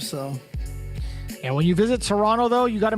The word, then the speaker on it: Toronto: And when you visit Toronto, though, you got to make sure not to pronounce the second T.